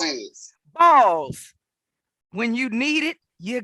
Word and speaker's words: Bawls: Come on, License Roy, explain what Balls is. Balls.